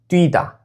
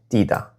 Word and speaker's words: 띄다: Many learners and even some native Koreans accidentally pronounce 띄다 like 뛰다.